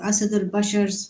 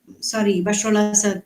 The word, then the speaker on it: Bashar al-Assad: But Syria already have some factions fighting in some part of its country, and then there are Asad al-Bashar's. Some of the Bashar al-Assad. I said his name wrong.